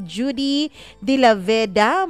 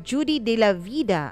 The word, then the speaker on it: Judy De La Vida: Judy De La Veda, maraming salamat. Or Judy De La Vida. Ayun, yun pala dapat ang pagka-pronounce nun.